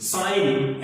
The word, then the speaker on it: sign: तो गा जैसा उच्चारण यहां कहीं पर नहीं है, यहां पर G साइलेंट है। तो देखिए साइन, SIGN, लेकिन हम G को प्रोनाउंस नहीं कर रहे हैं।